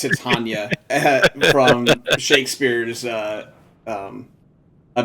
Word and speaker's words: Titania: Everyone and their grandmother, myself included, back way back in the day, pronounced it to uh Titania. But yes, it is in fact Tatana from Shakespeare's uh um A Midnight Summer's Dream.